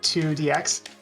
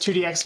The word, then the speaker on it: IIDX: Beat Mania 2dx uh that is pronounced the 2dx uh or just 2dx for short um is konami's Flagship